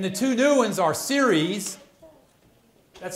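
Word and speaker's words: Ceres: Mercury Venus Earth Mars series and this is how you pronounce it s e r i s Jupiter Saturn Uranus Neptune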